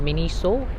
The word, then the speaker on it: Miniso: It's called Miniso. This is how it's pronounced.